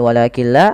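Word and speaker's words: وَلَٰكِن لَّا: Apabila ada nun sukun bertemu dengan lam, maka cara membacanya kita idghamkan nunnya kepada huruf lam, sehingga di situ tidak dikasih harokat, artinya nunnya tidak dibaca, langsung ke lam yang berharokat tasydid, walakilla.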